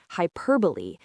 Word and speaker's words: hyperbole: And key number three, remember the Greek origin, hyperbole, meaning to throw beyond. This will help you remember both the meaning and the pronunciation, which has its roots in that final e sound.